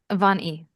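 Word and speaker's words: Van Ee: Van E. Oh, literally. Oh, that's exactly how it's spelled. Van E. But it's VAN space capital E lowercase e. Yeah.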